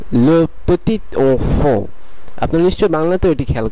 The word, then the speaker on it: le petit enfant: এরপরের অ্যাডজেক্টিভগুলোতে আমরা দেখতে পাচ্ছি এখানে একটি ছোট ফ্রেজ আছে, এই ফ্রেজটির উচ্চারণ হবে le petit enfant, le petit enfant, le petit enfant।